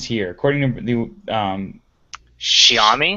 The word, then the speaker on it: Xiaomi: and then pronounce it pronounce the first word as if it were shower so what the mystery ends here according to the um shami shami that's right uh Shia